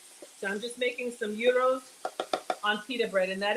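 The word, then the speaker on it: gyros: I'm just making some uros on peer bread and that is the pronunciation AO it's not a gyro it's not a Giro the g is silent it's a soft G and in um Greece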